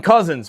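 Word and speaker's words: Cozens: Here's Dylan Cousins brings it into the zone. Cousins spelled C O Z Ns. And then there's number 21 Nick Cousins spelled like cousins like a family member.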